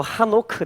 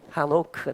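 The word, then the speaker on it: חנוך: 에녹을 이 원래 발음대로 읽으면 이거 바로 하노크 됩니다. 이 헤이만 빠지고 하노크가 되는 거예요.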